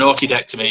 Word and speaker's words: orchidectomy: When you That's the one, an orchidectomy. Yes. How do you say it? Orchidectomy. Orchidectomy. Like the flower. That's it, right? Like the orchid.